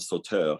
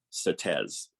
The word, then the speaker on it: Sauteurs: you get instead of soto you get certes so it's really lament for the souls of certain that's how it's pronounced in grenada um and uh yeah